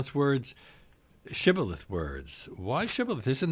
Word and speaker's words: shibboleth: the word Shibboleth and one group could not and the it turns out that the Ephraimites could not pronounce Shibboleth correctly or in the groove